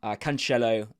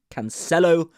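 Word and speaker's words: Cancelo: bench keeper Bruno Fernandez canello and or Canelo sorry someone did correct me on the pronunciation Canelo and then Ula turkey6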